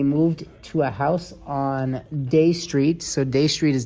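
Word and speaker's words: Dey: Eliza Parker they moved to a house on day street so Day Street is down by the World Trade Center Dy it's spelled Dy Day Street down by the World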